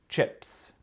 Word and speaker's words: chips: Ce n'est pas i, c'est e. E. Pas i, e. Chips.